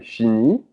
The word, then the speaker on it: finit: Il, elle finit. So notice how they're all pronounced the same way because the T and the S are not pronounced.